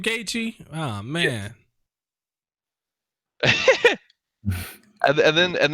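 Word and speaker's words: Gaethje: justin gaichi versus conor mcgregor that's how you pronounce his damn name gaechi oh man and then and then have habib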